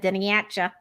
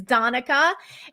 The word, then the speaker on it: Donnacha: I tried to pronounce it and said Doniacha. Like coming at you. But Donnacha, but it's Donica.